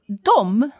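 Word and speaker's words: dem: that dom as in dom two kiram os um but now you're seeing that we've got another word that's spelled d-e-m yep that's still pronounced dom yup and it's the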